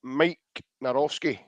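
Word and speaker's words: Maik Nawrocki: And the way you pronounce his name is Mike Narowski.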